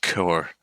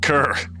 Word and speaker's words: cœur: Hello, mon cœur. It's pronounced core. I know how it's pronounced. Fine, cur. An archaic term for a dog, an abandoned mutt or stray. Did you mean core?